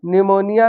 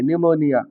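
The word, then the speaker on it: pneumonia: लेकिन यहां पर निमोनिया में भी पी साइलेंट हो जाता है। स्पेलिंग की स्टार्टिंग होगी एन से। पढ़ेंगे एन से लिखा जाएगा पी से। पी एन ई यू एम ओ एन आई ए निमोनिया।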